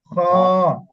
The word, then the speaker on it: খ: আহ আহ আহ আমরা কফ বা কাসি যেরকম একটা আওয়াজ বের হয় না এখান থেকে আটকাতে আটকাতে একটু মনে হয় এইটা উচ্চারণটা হচ্ছে এরকম আর খ খ জি বলেন খ